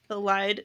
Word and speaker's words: Elide: Lorcan and Elide is the correct pronunciation of her name.